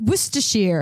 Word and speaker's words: Worcestershire: It's like Worcestershire.